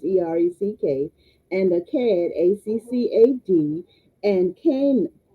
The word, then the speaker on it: Erech: And the beginning of his kingdom was Babel and Erech, and some the pronunciation in one of the encyclopedias is Urek, but it's Ereck, and Akkad, Accad, and Cain and Calneh, Calneh, in the land of Shinar, and some say Shinar.